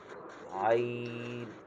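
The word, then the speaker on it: عين: আর আইনটা একটু ডিফারেন্ট, এটা হচ্ছে কণ্ঠ, মানে আমাদের গলার যে কণ্ঠ আমরা যে উচ্চারণ করি, সেখানের মাঝখান থেকে আমরা সেটাকে উচ্চারণ করতে হবে, একটু নরম করে, একটু নরম করে স্মুথলি বের করতে হবে।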